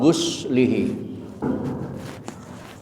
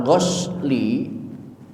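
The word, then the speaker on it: غسله: hukumnya apa memandikan mayat bacanya uginnya Diah guslihi kena dengan dibaca artinya memandikan wajib yang disertai dengan niat tapi kalau kita bacanya Salah ghasli itu mencuci yang tidak butuh niat mencuci piring mencuci baju mencuci sendal itu bahasa Arabnya gasli kalau mandi wajib adus mandi mayit maka harkatnya Bukan ghasli tapi ghusli itulah perbedaan antara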